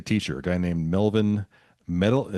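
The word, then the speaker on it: Metelits: In 1960, she marries a teacher, a guy named Melvin Metal. I believe it's pronounced Matellet, Mli T-S.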